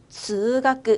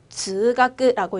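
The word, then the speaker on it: 通学: 그래서 통학은요, 즈가끄, 한 번 더, 즈가끄라고 읽어주시면 됩니다.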